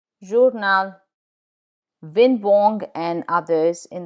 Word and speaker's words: journal: L, in journal, journal.